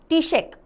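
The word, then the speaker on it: Taoiseach: Then who इज सेट to become Ireland's youngest ever टीशेक यानी prime minister? ये ऐसे मैंने क्यों किया, क्योंकि मैंने इसको टी यानी टी शर्ट को शेक करना, उससे इसका प्रोनाउंसिएशन याद किया हुआ है इसलिए।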